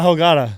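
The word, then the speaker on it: ahogada: AOG is it's a AOG the H is silent in Spanish oh gotta yes perfect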